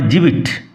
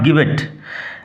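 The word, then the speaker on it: gibbet: সয়েটেন from মার্ডারস গিবেট sorry উচ্চারণ হবে জিবিট নট গিবেট and three into flame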